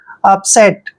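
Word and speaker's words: upset: प एस ई टी यू प जब यूप इकट्ठा आता है तो उसको हम आप पढ़ते हैं यूप नहीं पढ़ना है आप पढ़ेंगे आप और देखिए एस को हम स लिखेंगे ई को ए की मात्रा पढ़ते हैं और टी को टे अपसेट अपसेट होता है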